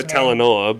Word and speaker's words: Talanoa: Well, that's because of how do you pronounce his name? Talanoa, but still, I thought he was pretty good.